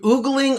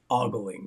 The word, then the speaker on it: ogling: the glass I mean we actually went through oogling ogling or ogling and uh according to my uh nephew in-law Matt he said that the correct pronunciation is ogling so that is what we're going with he